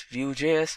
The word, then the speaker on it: Vue: Vue.js is commonly referred to as Vue and pronounced as Vue.js, or Vue is rightly so.